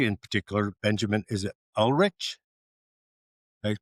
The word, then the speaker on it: Ulrich: And our guest today in particular, Benjamin, is it Ulrich? Did I pronounce it right? I pronounce it Ulrich.